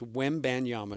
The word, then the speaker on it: Wembanyama: It is, say it with me, 3 syllables. Wembanyama.